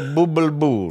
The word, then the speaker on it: Bublé: Michael Bublé. You're not pronouncing the accent at the end.